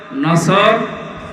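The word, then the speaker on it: نصر: এজন্য তেলাওয়াত যখন করবেন সওয়াদ উচ্চারণটা মুখ গোল করা লাগে আল্লাহ পাক জানিয়েছেন যখন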